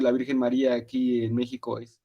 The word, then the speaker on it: México: escribe x en general se escribe como equis pero se pronuncia sh es méxico en realidad es méxico texcoco denos acá y